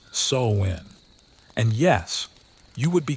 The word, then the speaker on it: Samhain: Samhain pronounced Samhain.